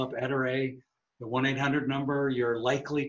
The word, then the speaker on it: Ettore: who's watching and listening it's pronounced ettere so every time i've corrected you i'm sorry but i was right it's etere it's not a tori or all the other different versions um and then the